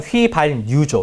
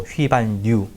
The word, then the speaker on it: 휘발유: 디귿의 이제 휘발유는 틀린 발음인데 정확한 발음 휘발유죠. 휘발유.